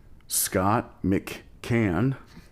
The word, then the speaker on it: Scott McCann: And tonight we have the band members of As Is, Scott McCann. You nailed it first try. And Franc Aledia. Yep.